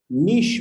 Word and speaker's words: niche: Please pronounce that properly. Niche marketing.